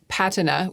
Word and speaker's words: patina: abroad as a child, for some reason I say PATina with the British pronunciation.